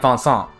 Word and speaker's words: Vincent: like van song so they're trying to go with their friends pronunciation in japanese so it becomes vansant not vincent as a point of